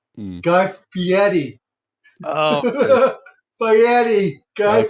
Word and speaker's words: Fieri: I knew I Fieri. was saying it all wrong. I suck at pronunciations. You're fine. It's Fieri. A lot of people get it screwed up.